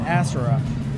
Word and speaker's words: Asura: Asura or is it Asura?